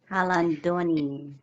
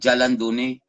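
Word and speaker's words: Jalandoni: Halandoni. Halandone. Pero Jalan. Ang iba kasi pagbasa niyan, Jalandone. Murag sa Jalandone. sound H, sound, silent H Murag- man good.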